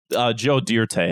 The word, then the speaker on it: Joe Dirt: Joe Dirt? Yeah. Joe Dirte, actually, is what it's pronounced.